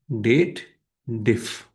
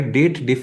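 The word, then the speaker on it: DATEDIF: The formula is date diff date diff. Many people call it dated if but that's not the correct uh like pronunciation in my opinion because the formula is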